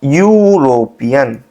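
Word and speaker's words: European: भाई स्पेलिंग तो ई से स्टार्ट हो रही है लेकिन जो इसका प्रोनंसिएशन है वो एस आ रहा है। यूरोपियन। कुछ इस टाइप से आ रहा है ना? तो स्पेलिंग तो भले ही ई से स्टार्ट हो रही है। वोवेल है लेकिन इसका जो बिगिनिंग साउंड है वो क्या है? वाई है। जो कि क्या है? कंसोनेंट साउंड है।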